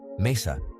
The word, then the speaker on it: mesa: stress no accent needed Mesa table ends in a vowel so we stress the second to last syllable Mesa doctor doctor ends